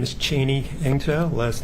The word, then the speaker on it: Eng-tow: My name is Cheney Eng-tow. Last name is spelled Echo November Golf hyphen Tango Oscar Whiskey.